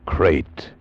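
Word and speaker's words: krait: was and what kind of a snake a crate is first the crate you spell it k r AI T they're in India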